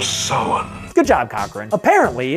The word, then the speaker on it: Samhain: It's because people nowadays don't respect the classic traditions of Halloween, or as he correctly pronounces it, The Festival of Samhain.